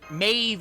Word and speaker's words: Maeve: blame you for that Maeve is not how you would think that that is sad we mean like Queen Meb yeah queen queen Maeve however you okay yeah I don't know how it's pronounced yeah I think it's amazing yeah it's Maeve because it's Gaelic it's weird it's like